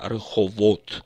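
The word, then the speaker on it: רחובות: холод или как бы нормативно rehovot произносят ударением на последнем слоге но в обычной речи как правило лихом от произносится название этого города она внушала ахнул мерой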